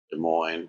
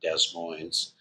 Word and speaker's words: Des Moines: And they just kind of go De Moine or back then they probably pronounced it Desmos.